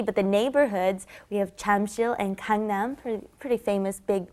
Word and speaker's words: 잠실: Notice it's not spelled Jamsil, it's Jamsil is the spelling, but the pronunciation, of course, is right in between that J and that CH, isn't it? Jamsil, right?